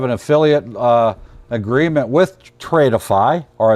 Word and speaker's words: Tradeify: Uh we do have an affiliate uh agreement with Tradeify or as I like to call it, trade iffy because it's spelled trade with FY. Tradeify.